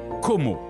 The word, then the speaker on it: Como: rives italiennes de l'enchanteur Lac de Come que l'on prononce como en italien et anglais la ville change de